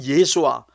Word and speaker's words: 예수: 이렇게 성자 하나님의 이름 예수와 성부 하나님 여호와는 같은 이름이라는 사실이 증명됩니다 좀 더 자세히 실질적으로 설명하면 예수는 헬라식 발음입니다 히브리식 발음은 예수와 혹은